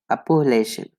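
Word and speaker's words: Appalachian: यहाँ पे ये आपका फोनेटिक्स में है, आ पू ले शेन, अपोलेशन, अपोलेशन, इसको हम पढ़ेंगे अपोलेशन, अपोलेशन।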